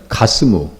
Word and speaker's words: 가스무: 이 게셈이 6절에 나와 있는 가스무. 똑같은 사람이에요. 가스무예요. 히브리어는 뒤에 무슨 글자가 붙어버리면요. 발음이 완전히 바뀌어버립니다. 그러니까 되게 헷갈린다고.